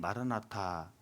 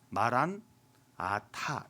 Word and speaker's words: 마라나타: 헬라 사람들은 마라나타, 아랍 사람들은 마란 아타 이렇게 발음했다고 하는데, 마란은 우리 주란 뜻이고 아타는 오다란 뜻이라고 해요.